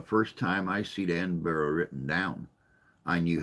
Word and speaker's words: Edinburgh: he kept pronouncing it Edinburgh, and I'm like, dude, Edinburgh, Edinburgh, Edinburgh, Edinburgh. Come on, say it right, Burra, Burra.